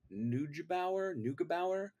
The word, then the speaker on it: Neugebauer: all my street cred because I'm going to mispronounce her name, and it's going to be really awful. But Annie Neugebauer, Neugebauer.